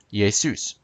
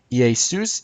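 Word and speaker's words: Ἰησοῦς: would say yay soon yay soos is Jesus's name used as the subject in Greek obviously yay soon is Jesus's name used as an object notice the difference yay soos ends in an S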